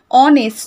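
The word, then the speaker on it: honest: আমরা যখন উচ্চারণ করছি অনেস্ট, তো আমরা ও থেকে উচ্চারণ করি, দেখো অনেস্ট, ওকে? আমরা কিন্তু এইচের উচ্চারণটা করি না, তো এইচের উচ্চারণটা উচ্চ থাকে, সেই জন্য বলা হচ্ছে।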